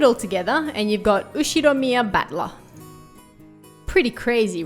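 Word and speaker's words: 右代宮: Ushiromiya. I see. Ushiromiya. Ushiromiya. Okay. That's a fairly plausible Japanese pronunciation.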